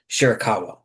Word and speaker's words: Shirakawa: I never can pronounce her last name. Shirakawa.